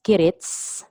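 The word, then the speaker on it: 起立: As what I've said, if the command of the teacher or the leader in the classroom says kirits, silent Q at the end, that means everybody should stand up and prepare for the greetings.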